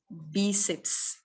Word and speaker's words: Bíceps: Bíceps. Bíceps só tem 2 sílabas, viu?